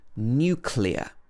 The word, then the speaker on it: nuclear: And the last one is nuclear. Nuclear. In the British English pronunciation, this should be n-y-u, new at the beginning. New and then clear, like a clear day.